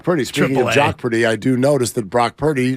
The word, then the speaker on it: Brock Purdy: I do notice that Brock Purdy rhymes with jock pretty yeah like I was